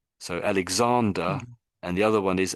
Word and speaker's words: Alexander: in particular um because when you're saying his name Alexander you're saying Alexandra you put like an a on the end of it like that would be a lady I would think I would think of that as a lady's name this is the